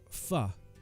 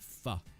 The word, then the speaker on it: pho: Pho. F-O P-H-O with a line above it. Pho.